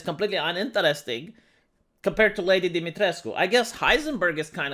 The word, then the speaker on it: Dimitrescu: like lady dimitrescu and it's not dimitrek it's dimitrescu okay cause i'm romanian i get to tell you how it's pronounced the problem with this